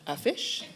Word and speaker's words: Fyshe: My name is pronounced Fyshe. My first name's, and my last name's Fyshe.